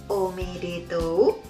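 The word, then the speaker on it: おめでとう: Hiragana seperti ini dan romajinya pakai u omedetou nah tapi membacanya omedeto nah ini Jessica Wongso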